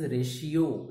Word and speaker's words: ratio: know the pronunciation is ratio the t is pronounced like sure here so what what is